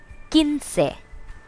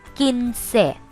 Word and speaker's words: quince: 15, quince. Remember, QUI here is pronounced quince.